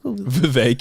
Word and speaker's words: Vivek: debate I can't Vivek Vivek yeah said his name rhymes with cake so have we been